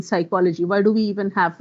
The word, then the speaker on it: psychology: What is the role of P in psychology?